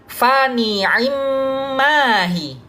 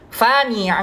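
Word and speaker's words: فنعما هي: Pada kalimat fani'immahi, ketika kita membacanya dengan full harokat kasrohnya, akan dibaca fani'immahi ya. Akan tetapi ketika kita membaca dengan ikhtilas, maka di situ akan pergi ya, akan pergi sebagian kasrohnya ya.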